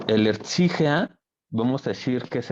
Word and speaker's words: Erzieher: Y esa palabra es Erzieher, que se pronuncia Erzieher.